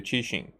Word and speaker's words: Qixing: Now that's more like how I pronounce the Liu Qixing. But the Qixing is it's like there's an S merged with an sh sound, you know, originally.